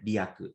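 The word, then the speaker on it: 利益: Ri is Rieki no Ri, but in Buddhism it's read Ryaku.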